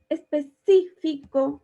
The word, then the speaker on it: específico: acá vamos a revisar específico lleva acento en la y es una palabra esdrújula y ahora vamos a